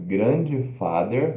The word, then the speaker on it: grandfather: Como se fosse grandfather, grandfather. Mas a pronúncia é o grand, que é a sílaba tônica, ó, G-R-A-N, grand.